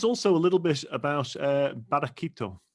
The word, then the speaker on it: Barraquito: Tell us also a little bit about Barraquito, if I've pronounced that correctly. Barraquito, yeah.